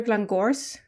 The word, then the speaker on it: Llangorse: I won't pronounce it in Welsh, but it's near Glangors, and that's probably also not a very good pronunciation, but anyway, there is